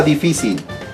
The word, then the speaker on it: difícil: luchito difícil la palabra difícil primera palabra difícil porque acá está la fuerza de voz difícil es como que lo